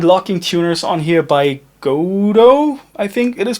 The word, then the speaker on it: Gotoh: You can also find locking tuners on here by Gotoh, I think it is pronounced, G-O-T-O-H.